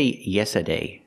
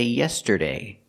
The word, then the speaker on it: yesterday: join the basketball team we cannot say yesterday yesterday we have to pronounce the T and say yesterday also make the r sound like Burger Yer tur yeser a complete T sound a released T TT and the r